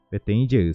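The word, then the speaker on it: Peteĩ jey: Agora vamos separar isto aqui em sílaba. Então eu tenho P, petem jeu seria P, petem jeu, desta maneira.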